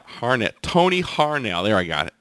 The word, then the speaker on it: Harnell: ocean Kings of 1 out of Norway Tony Hornell harn Tony harnell there I got it right there rejoin for